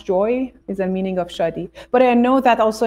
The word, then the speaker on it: Shadi: to be clear yes uh the name is Shi and Shi means joy in Persian so in farc uh uh happiness SL jooy is a meaning of shi but I know that also in different languages